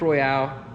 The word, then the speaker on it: Royal: This is a Grip Royale, or Royal, however you want to say it. I keep saying Royale, but it's spelled Royal because we're in America.